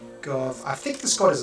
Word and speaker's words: Gobhniu: So this is obviously an Irish god because it's the G-O-B-H sound. I don't know how to pronounce that. I think it's like a V sound or an F sound, but it's been a